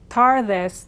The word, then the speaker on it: tardes: If you have to say tardes, tardes, tardes, you will be more understood than if you try to say an English D here, tardes, and you will start to approximate the correct Spanish pronunciation.